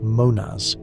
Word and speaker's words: Monas: Monad is pronounced Monas with the emphasis on the first syllable. The Mo sound has a nasal quality, resonating in the sinuses and the bones of the skull. The Nas ending is soft, almost like a whisper.